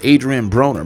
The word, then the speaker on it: Adrien Broner: And it's fitting that his name is Adrien Broner because it rhymes with boner considering that is how he was acting on this podcast.